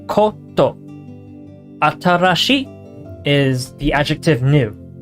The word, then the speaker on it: コート: Coat is a borrowed word from English to mean coat. Pronounced koto.